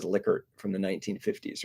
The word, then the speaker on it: Likert: um liquor scales and it is liquor it's probably like the most widely mispronounced word in the social sciences people tend to say likert scales uh it's not there are actually like recordings of this guy saying yeah my name is licker from the 1950s right